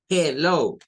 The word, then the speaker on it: Hello: a reír Jejeje Hello ahora la segunda parte de acá lleva dos letras L y una o cuando encontremos doble consonante vamos a necesitar con unos cuentas que en el inglés las doble consonantes solo se escribe pero no se pronuncian y esta o de acá Tiene un sonido que le vamos a llamar el sonido largo entonces en la IP